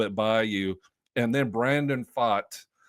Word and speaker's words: Brandon Pfaadt: And then Brandon Pfaadt. The P is silent, Bubba. Brandon Pfaadt, who has been blown